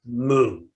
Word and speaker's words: Mu: In Japanese, Joshu, pronounced in Japanese, Mu, or Chinese, Wu, which means no, nope, doesn't.